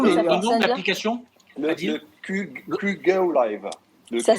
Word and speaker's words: QGo Live: le QGo Live.